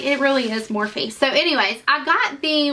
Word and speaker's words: Morphe: But I did get some Morphe palette.